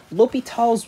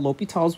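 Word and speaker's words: L'Hôpital: will be talking about l'hopital's rule yes it is called l'hopital's rule is how it's pronounced uh not the hospital rule because it is french in addition to that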